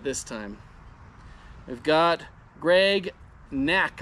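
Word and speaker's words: Knaak: We've got Greg Knack, I believe is how you pronounce it, with K-N-A-A-K.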